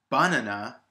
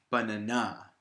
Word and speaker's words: banana: just said it banana to say it banana wouldn't make sense nor would it make sense for me to say but Nana the in the first example I'm putting the stress on the middle syllable but Nana banana now if I was to put the stress on the first syllable I'd be saying banana banana which doesn't make sense it doesn't sound like the word in fact it sounds ridiculous which is a good